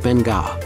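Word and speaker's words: Beqa: At number 7, Bika Lagoon, about 144 kilometers southeast of Nadi, off Pacific Harbor, Bika, pronounced Benga, lagoon lures avid divers and adventure seekers, many of whom come here to experience the Bika Lagoon shark dive.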